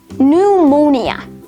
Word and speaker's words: pneumonia: core coup cupboard pneumonia psalm sephology psychiatrist psychic psychology psychotherapy psychotic pterodactyl raspberry and finally receipt all of these words have the silent letter p next let's take a